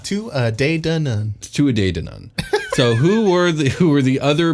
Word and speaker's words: Tuatha Dé Danann: Tuatha Dé Danann. Tuatha Dé Danann.